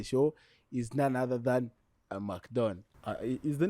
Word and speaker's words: Amac Don: The streets have it that is Amac Don.